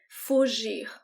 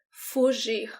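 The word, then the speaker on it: fugir: flee to run away fuji observe the sound of the letter g here fuji this is the sound of the g every time it is followed by an i fuji a refugee a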